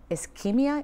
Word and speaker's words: Ischemia: Ischemia, am I saying it correctly, gentlemen?